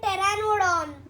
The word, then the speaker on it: Pteranodon: P silent. P is silent. Pterodactyl and Pteranodon.